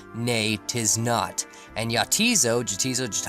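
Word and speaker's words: Neitiznot: the island's name is actually supposed to be pronounced nate is not and yachties OGG so just I so however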